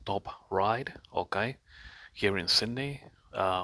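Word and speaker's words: Top Ryde: Now, I was in a shopping center called Top Ride, okay, here in Sydney, uh, or in the northern suburbs of Sydney.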